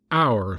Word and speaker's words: hour: would have been to knock off the H and say hour like sour or scour but far be it for